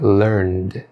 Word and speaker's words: learned: Como são verbos que terminam com sons vozeados, a sua pronúncia deve ser com um som sutil de D. O verbo learn, no passado, fica learned. O verbo seem, no passado, fica seemed.